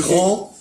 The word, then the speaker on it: grand: Ça, c'est Grand, on ne dit pas le D. Féminin, grande. Le D. Donc on joue là-dessus. Voilà. On prononce pas.